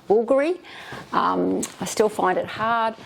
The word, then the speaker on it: Bvlgari: So we went to Milan and I spoke to this lovely gentleman that helped me with this bag, and he said it's pronounced Bvlgari.